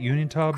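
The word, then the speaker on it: Uinta: Unita Basin.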